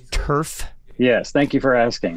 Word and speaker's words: Tuereff: just to make sure, it's Tuerff. Yes, thank you for asking. Thank you. It's Tuerff, like AstroTurf.